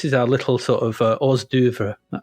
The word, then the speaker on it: hors d'oeuvre: our this is our little sort of uh Oz Dover how do you pronounce that oh Dev oh Dev that's it this is our hors d'oeuvre anyway